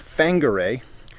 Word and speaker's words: Whangarei: the far apart but in the maori language the wh has an f sound so that's why the town is spelled wh uh wangarei but it's pronounced fanguray so i don't think